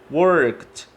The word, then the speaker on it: worked: Já a palavra work, esse som de k no final, ele não tem uma vibração, ele é não vozeado. Então, nesse caso, ele vai terminar com o som de T, quando a gente inclui o sufixo ed. Worked.